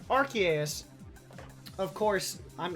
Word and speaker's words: Arceus: it came from Silas I was pronouncing our sous the longest time then I was calling it Arceus now I'm trying to force myself to call it um Arceus of course I'm it's